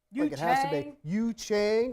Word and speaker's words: Yu Chang: on Yu Chang please we should say his name like two chains says in his wraps you Chang like it has to be that so how do you